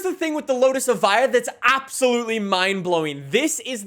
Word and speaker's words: Evija: Since this car is an all-electric hypercar, I always thought it was like Evija, but apparently Evija.